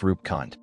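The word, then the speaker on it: Roopkund: Rupkund, pronounced Rupkund.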